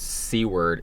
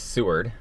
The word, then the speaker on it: Seward: And the way you pronounce seaw word is Seward.